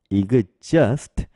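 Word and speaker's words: exhaust: 발음 돼서이 그 그리고 뒤에 있는 h 발음되지 않고요 뒤에 있는 au가 어어 발음 되죠 그래서 이그저가 스트 이렇게 발음 되니까요 이그저스트 이렇게 발면 되죠 그리고이 저의 강세가 있어서 EX just EX just 이렇게 발음이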